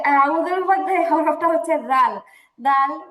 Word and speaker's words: أعوذ: তো যেটা পড়ছিলাম আমরা, আউযু আউযু আউযু। أعوذ এবার জু হবে কেন? জু তো মোটেও হবে না, এটা জিম না, এটা হচ্ছে জাল। আউযু আউযু আউযু আউযু, বলেন তো।